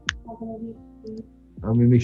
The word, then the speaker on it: Pompano: P-O-M, right, P-O-M-P-A-N-O, Pompano, P-O-M. not Pampano.